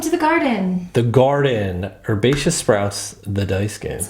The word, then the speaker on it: Herbaceous: Herbaceous. Herbaceous. The H is silent.